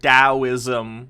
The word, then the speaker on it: Taoism: stoicism like a door i'm pretty sure it's pronounced taoism which you may have